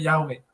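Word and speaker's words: Yahweh: itu di pronunciation-nya yahwe tadi kan dibilang dilafalkannya diucapkannya yahwe Oh ya betul betul ya terima kasih terima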